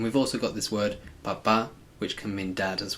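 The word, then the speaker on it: papá: Make sure you kind of accentuate the last syllable. Papa. Because if you say papa, it means potato.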